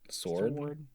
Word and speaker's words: sword: Yeah, put Like do you enunciate the W in sword? Sword. Yeah, it's sword. Sword.